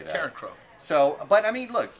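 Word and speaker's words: Carencro: Karen Crow. It's like Sheryl Crow's little sister, except she's the dirty one.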